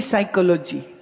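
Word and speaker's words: psychology: पी साइकोलॉजी बोले पी नहीं बोले पी साइलेंट है।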